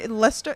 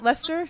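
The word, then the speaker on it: Leicester: they're they're talking about oh so it's Lester that's the Lester that's how you say it Lester not W like Worchester Lester got be it's like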